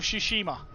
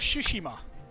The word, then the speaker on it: Tsushima: So, Ghost of Tsushima, or, as I've now just pronounced it wrong, Ghost of Tsushima is the correct way to pronounce it.